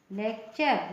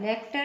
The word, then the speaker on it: lecture: जैसे और एग्जाम्पल देख लीजिए, LECTURE, लेक्चर। लेक्टर नहीं, लेक्चर।